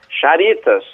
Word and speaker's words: Charitas: Ele pronuncia como está escrito, porque o X é um exemplo, né?